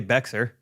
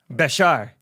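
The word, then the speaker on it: Bexar: Jake not know this how do you think you pronounce b x a r b x a r i mean I would just say beer beer Bashar nope it's Portuguese Bashar Bashar Bish Bashar it's the county that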